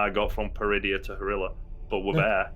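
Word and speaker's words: Peridea: How do you pronounce the planet's name? Peridia.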